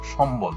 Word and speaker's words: সম্বল: ময়ের সঙ্গে বফলা যুক্ত হলে সেই ব উচ্চারিত হয়। যেমন লম্বা, সম্বল, এখানে ময়ের সাথে ব যুক্ত হয়েছে, এই বটা কিন্তু উচ্চারণ হয়েছে। একেবারে সম্বল শব্দের সাথে ব উচ্চারণ হয়েছে, এই বটা উচ্চারণ হয়েছে।